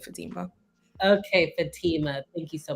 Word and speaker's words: Fatima: And my name is pronounced Fatima. I know some people say Fatima, which is fine, but I pronounce it Fatima.